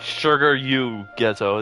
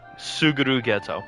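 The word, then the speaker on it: Suguru Geto: It's not sugar ghetto. It's Suguru ghetto.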